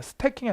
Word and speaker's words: stacking: 이거 발음하실 때 S 다음에 T는 좀 된 소리로 나요. 그래서 스태킹이야 스태킹 이렇게 약간 스탑이야 스탑 이렇게 나는데 참고.